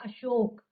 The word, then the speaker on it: अशोक: उच्चारित करते हैं, जबकि शुद्ध शब्द होता है अशोक।